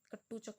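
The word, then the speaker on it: कटारूचक: लालचंद कटोचक नाम के हमारे फॉरेस्ट मिनिस्टर हैं, लालचंद कटोचक। ठीक है, कट्टूचक बोला जाता है, इसको स्पेलिंग याद नहीं है अभी कम्प्लीटली।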